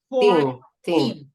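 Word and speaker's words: fourteen: Right here, the syllables stress goes in 10. 14, right?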